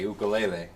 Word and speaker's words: ukulele: box uh ukuleles and I noticed how you pronounce it by the way ukulele as opposed to you know the white man do you ever get